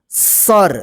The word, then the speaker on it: सर: तब जो है ना जो लास्ट वाला अक्षर होता है बिना मात्रा वाला उसमें जो है ना अ का उच्चारण नहीं होता है जैसे सर देखिए अ का उच्चारण